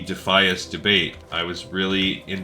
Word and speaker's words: Defias: trust myself considering um I've been saying defus instead of defias for uh 20 years now so I also pronounced